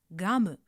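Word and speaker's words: ガム: Now think how does ca change its sound when voiced. That's right. It becomes ga. So kamu turns into gamu which means gum in English. Just remember throughout this exercise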